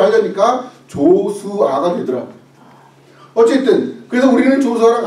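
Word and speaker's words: Joshua: 우리는 인도에서 우리 조슈아를 낳았기 때문에 우리는 평생 외국에서 살겠다.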